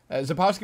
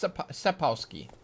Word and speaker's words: Sapkowski: Oh, it's pronounced Sapkowski. Oh, it's Sapkowski, not Sapkowski.